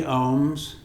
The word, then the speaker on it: Aum: in your sinuses and you'll hear many syllables at least three separate syllables so ohm is either spelled om or AUM and a um accentuates the different syllables and then I mean